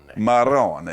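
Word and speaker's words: marrón: Maron. You've got to say it like that. You got to roll the RS.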